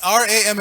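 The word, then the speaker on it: Rāma: bad mistake so just that one difference it's ra ma a in both cases but just one difference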